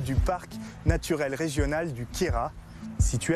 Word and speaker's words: Queyras: T'as remarqué, on dit Queyras, on prononce pas le S.